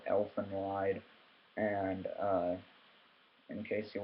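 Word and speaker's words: Elfen Lied: uh this is called elephant wide and uh in case you're wondering how to spell it it is elf en that's one word and then space lied like i lied to you or whatever but um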